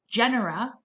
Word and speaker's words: genera: plural of phylum and likewise general is how you say the plural of genus so again these slides